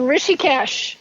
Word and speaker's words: Rishikesh: That in 68, they visited his spiritual training camp in the Rishikesh, is it? Is that how you pronounce it, in India? Right, in Rishikesh, yes.